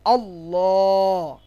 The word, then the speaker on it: আল্লাহ: আল্লাহ। ঠিক আছে, কি বলবো? আল্লাহ শব্দের লামের পূর্বে যদি জাবার অথবা পেশ থাকে তাহলে আল্লাহ শব্দের লামকে মোটা করে উচ্চারণ করতে হবে, যেমন আল্লাহ।